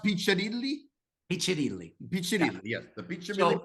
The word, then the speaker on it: Piccirilli: Is that pronounced Piccirilli? Piccirilli.